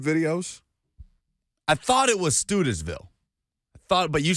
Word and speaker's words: Studesville: your own research just know that it is pronounced studesville in the F&M Bank chat is backing me